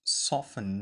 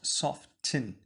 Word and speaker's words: soften: soften the red is pronounced soften not soft tin so I want you